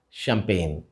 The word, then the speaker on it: champagne: a celebration is spelled Champagne and pronounced as champagne. The CH at the beginning of this word is pronounced as sh, and the G in the middle is silent.